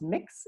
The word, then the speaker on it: Mx: the image points out the MX pronounce mix is the gender-neutral version of MS or mr.